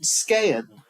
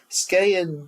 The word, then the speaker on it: Skagen: been there before yeah and skan mhm skan which is spelled Skagen um I think if you're